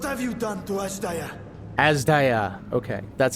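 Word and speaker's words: Azdaja: Azda.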